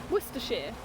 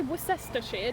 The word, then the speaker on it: Worcestershire: Worcestershire. We don't say Worcestershire, do we? I know. We just skip words and letters, and Americans get confused.